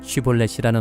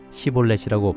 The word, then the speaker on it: 쉬볼렛: 그가 에브라임 사람이 아니라고 하면 그에게 쉬볼렛이라는 말을 발음하게 하였다. 그러나 그가 그 말을 제대로 발음하지 못하고 시볼렛이라고 발음하면 길르앗 사람들이 그를 붙들어 요단강 나루터에서 죽였다.